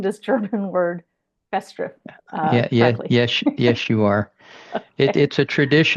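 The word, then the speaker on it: Festschrift: So I'd like to know, am I pronouncing this German word festri?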